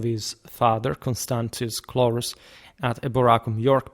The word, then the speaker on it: Eboracum: By the way, from the 4th century, conventionally start using the ecclesiastical pronunciation of Latin, so just my arbitrium, but I said it long ago and I'll stick to that.